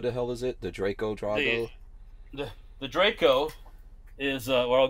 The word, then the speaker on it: Draco: It's Draco. If that had an E on the end, the A would be... Draco.